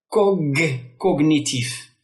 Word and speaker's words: cognitif: Cognitif. Le G et le N se font entendre séparément.